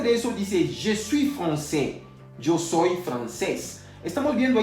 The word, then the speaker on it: français: Ya habíamos visto hace unos minutos atrás que la AI se pronuncia E. Entonces no diremos francais, vamos a decir français.